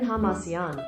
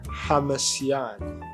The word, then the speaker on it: Hamasyan: should I should I like learn how to pronounce this maybe maybe I should tigran Haman oh I wasn't even close tigan Haman tigan Haman okay so we're going to be